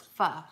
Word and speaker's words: pho: Sasha said, it's pronounced pho, right? It's not pho, it's pho, if I remember correctly.